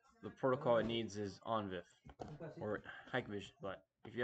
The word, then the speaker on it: ONVIF: On VIF? How do you say this, Papa? Onvif? You got Onvif?